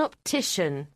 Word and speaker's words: optician: Sometimes it's pronounced shun. For example, if you've got a problem with your eyes, you might need to go and see an optician.